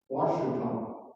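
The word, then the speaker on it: Ouachita: But do any of you know how to pronounce this word, O-U-A-C-H-I-T-A? Correct. Washington.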